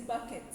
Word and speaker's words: Bucket: No, her name is Bucket. Okay. But she calls herself Mrs. Mrs. Bouquet.